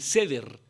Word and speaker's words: Seder: Entre los judíos celebran algo que se llama, y lo compartíamos el viernes, algo que se pronuncia algo así como el Seder.